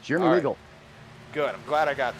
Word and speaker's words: Jeremy Weigel: Chris fight it out, I think I'm saying it right, Jeremy Weigel? That's correct, Jeremy Weigel.